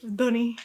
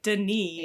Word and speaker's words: D'ni: history because we Dunny learned how to say that this time. And we'll instead of Deni.